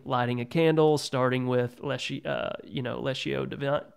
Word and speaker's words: Lectio Divina: Yesterday morning, beginning lighting a candle, starting with Lectio Divina. How do you say it? Lectio Divina? Well, people say it different ways.